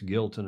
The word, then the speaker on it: Giltinan: Alistair Murray's, confirming it's Gilton.